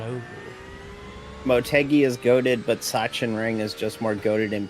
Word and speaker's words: Sachsenring: How did I pronounce Sachsenring? Sachsenring.